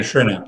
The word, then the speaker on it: Schrinner: Adrian Schrinner.